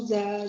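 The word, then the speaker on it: ざ: Bukan sa. Za.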